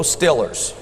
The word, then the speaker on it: Steelers: And I'm from Pittsburgh, and I'm going to say it like Pittsburghese, go Stillers. Go Stillers.